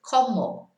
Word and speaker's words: como: C-O is a K sound in a word, como.